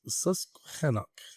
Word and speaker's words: Susquehannock: Susquehannock. Is that a thing? That's how you say it.